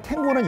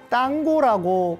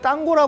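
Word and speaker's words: tango: 춥니다 참고로 말씀을 드리면 탱고는 영어식 발음이고 스페인어로는 당고고 발음합니다이 땅고 하는게 더이 스페인적이고이 브에노스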